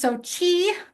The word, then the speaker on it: SOCI: in uh AWS Labs introduced in in 20122 pronounced SOI means seekable oci and the reason is because